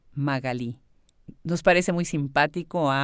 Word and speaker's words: Magalí: Echevarne, platicamos acerca de cómo yo pronuncio su nombre, Magali. Y en otros países de Latinoamérica me dice ella que así lo pronuncian y cómo ella la llaman en Argentina, Magalí.